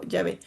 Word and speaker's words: Yahvé: Este, en Génesis 2, el nombre Elohim, porque también se le conoce así, se combina con un segundo nombre divino pronunciado Yahvé.